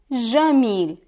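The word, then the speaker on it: جميل: In the Levantine dialect, we pronounce it Jamil, Ja, Jamil.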